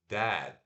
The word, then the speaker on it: dad: Papai se pronuncia o D, o AE e D de novo. Então, é dad, dad. Não é dad, não é com A, não é dad, nem dad, é dad, dad. Ó, é.